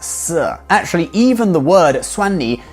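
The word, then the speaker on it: شیر: of the Persian word for lion which is pronounced sir.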